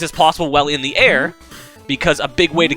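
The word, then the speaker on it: Aer: She has the power of air, spelled with an E, like A-E-R, which allows her to float when she has magic power, which is that green stuff.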